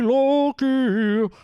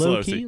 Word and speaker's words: Losi: Jeremy Loki cares today. Yeah. They do say that. They do say that about him. I've never been sure. Loki? Losi? It's Losi. Losi? Jeremy Losi. That's how you say it.